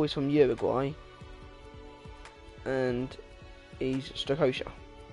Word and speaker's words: Strakosha: Second of all, he's from Uruguay, and he's Strakosha.